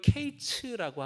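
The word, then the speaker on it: קיץ: 그 여러분 여름 과일을 히브리어로 케이츠라고 하거든요. 근데 끝이라고 하는 말이 케이츠예요. 발음이 똑같아요.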